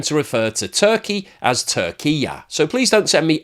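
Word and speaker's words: Türkiye: as turkey and that the Turkish pronunciation is Tura so in the same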